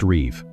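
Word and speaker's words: ריב: In Hebrew, this is called a rib, pronounced reev.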